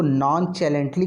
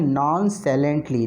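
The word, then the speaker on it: nonchalantly: जब आप इसको पढ़ेंगे तो इसको अगर आप ध्यान से पढ़ें तो इसको नॉन चैलेंटली कुछ बच्चे पढ़ देते हैं गलती से। ये नॉन चैलेंटली नहीं है, ये क्या है? नॉन साइलेंटली।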